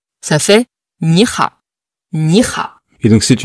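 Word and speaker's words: 你好: L'astuce, c'est, vous dites un peu vite, ni hao. Au lieu d'essayer de bien prononcer ni hao. Dès que vous prononcez vite, ni hao, vous prononcez correctement.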